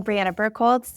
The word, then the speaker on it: Birkholz: So, Briana Birkholz, well done on the pronunciation, Joe.